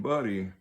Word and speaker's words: butty: Now, bacon buddy spelled Butty. I don't know if they spell that in pun or why it's spelt that way, but they doggone sure pronounce it that way.